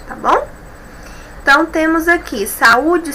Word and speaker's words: saúde: Por exemplo, saúde, observem, U é a sílaba tônica, saúde, não tem o NH depois, então eu tenho aqui, o acento agudo, tá bom?